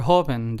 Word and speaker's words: joven: Same thing goes with the second word joven. There are only two syllables, so the syllable that we stress is the first one.